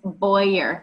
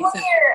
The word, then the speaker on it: Bowyer: I appreciate it and my last name is Boyer by the way you say it wrong like every single week I've never said anything Boer I always say bow I'm sorry that's okay